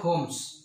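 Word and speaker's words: Holmes: the adventures of sharlok homes h-o-l-m-e-s homes l is the silent letter here so the adventures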